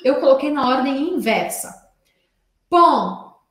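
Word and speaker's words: paon: Pom se escreve P-A-O-N, mas eu falo como se fosse um E-N ou como se fosse um A-N.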